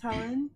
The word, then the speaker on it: Helene: So, hi, my name is Helen. Mhm. Not Helene. Not to be confused with Helene. Helene. Yeah, it's spelled like Helene, but it's Helen.